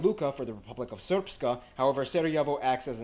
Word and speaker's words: Srpska: I know, it looks like it's pronounced Srpska. It's pronounced Srpska. Triple diphthongs are an amazing linguistic phenomenon.